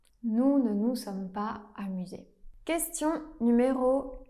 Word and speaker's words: amusés: Attention, c'est un S muet qu'on ne prononce pas. Nous ne nous sommes pas amusés.